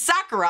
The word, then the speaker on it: sakura: know it it's what is it sakura it's sakura i got it but i keep getting hung